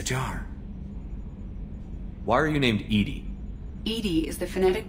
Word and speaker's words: EDI: airlock is a jar why are you named Edie Ed is the phonetic pronunciation of Eed the that is an acronym